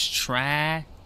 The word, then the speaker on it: Tragienie: How do you pronounce it's Tragienie.